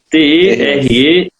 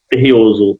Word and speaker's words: Tereos: Tem gente que fala Tereos, Tereos, enfim, mas pronúncia em francês. É uma empresa francesa, é a segunda maior produtora de açúcar no mundo, e é Terreoso o nome ali.